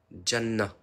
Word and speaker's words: Janna: le paradis Janette non faut le prononcer en arabe j'arrive pas les Janna ah Janna ah oui ouais